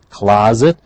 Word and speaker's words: closet: the word is closet please notice this the pronunciation the s is pronounced as a zed closet a small area for